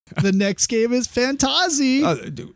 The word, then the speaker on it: Fantahzee: the next game is fantasi is it fantasy or fantasi I think that AEG pronounces it fantasy fantasy okay but it